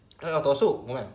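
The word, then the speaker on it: 落とす: Bacanya o ciru, ini jatuh, atau o ro otosu, otosu menjatuhkan.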